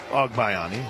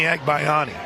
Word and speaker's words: Agbayani: Major League Baseball Benny Ogbayani? It's the first pitch is low. I did, but I also, in my time always thought it was Benny Agbayani. The pronunciation guide for BYU has it as AWG.